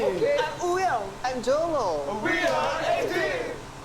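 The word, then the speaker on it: Wooyoung: I'm Wuyoung.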